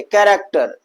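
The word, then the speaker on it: character: कैरेक्टर।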